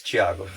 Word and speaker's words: Tiago: I say it Tiago because it's easier for people to pronounce, but it's Tiago.